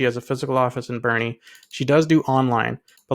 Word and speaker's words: Boerne: I think I'm finally pronouncing it right this time, Boerne, Texas.